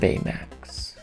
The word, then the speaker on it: Baymax: these characters olaf and baymax now you say i say his name weird you say max bayer max i've always said betamat bay uh max but apparently it's just baymax so um i've been